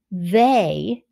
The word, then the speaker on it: they: so watch that trick they t-h-e-y ey is saying a in the word they pay attention find the